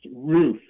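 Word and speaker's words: Ruf: the old roof building and that are uff pronounced roof built by Lewis roof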